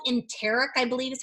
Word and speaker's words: enteric: These capsules are cool because they're called enteric, I believe is how you pronounce it, coated capsules.